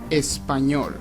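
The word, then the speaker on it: español: say Spanish in Spanish this is how you say Spanish in Spanish espanol repeat after me Espanol espol espanol this might be a little tricky because this word contains a letter that you can't find in English which is the I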